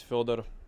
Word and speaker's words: Fëdor: Can you can you tell them like how to pronounce it correctly? Yeah, my name is Fer.